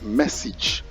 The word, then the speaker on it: message: this yourself all right this is pronounced message message message and here's the spelling message and not message but message all right we'll take a